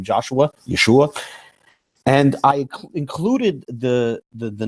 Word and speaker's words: Yeshua: can't be pronounced ooh according to the master retic text in this instance it's pronounced ooh it's Yeshua but notice that many